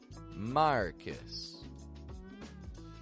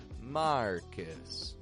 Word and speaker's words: Marcus: r c u s Marcus repeat that back to me now when we pronounce that a little bit quicker it's not quite marus but Marcus Marcus now this name does